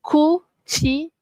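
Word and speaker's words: cucina: Ok this is a good example sebab cu bunyi ku c i bunyi kan. Tadi kita dah tengok chi. So ku cina na kucina.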